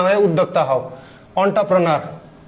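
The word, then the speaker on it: entrepreneur: অন্টারপ্রেনার, এন্টারপ্রেনিয়র না কিন্তু, অন্টারপ্রেনার।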